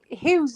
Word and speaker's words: Hugh: You can pronounce Hugh's name like you would say hue and cry, like a HUE.